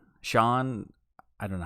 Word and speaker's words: Schon: It's Schon. Sean.